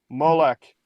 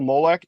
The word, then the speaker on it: Molech: it interesting also that when they sell spell it they spell it with a CH when it's a when it's a cough which should be a k maybe that was too